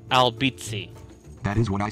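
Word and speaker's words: Albizzi: Albeiti, it's pronounced Albbitzi.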